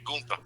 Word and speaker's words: Gunther: I get mad when they said Gunther because it should be Gunther. Yeah, no, you got to say it right. It's got the 2 dots over the U. You got to say Gunther.